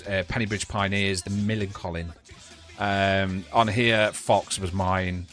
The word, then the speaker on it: Millencolin: How do you pronounce it again? Because I'm still struggling to say the band name. Millencolin.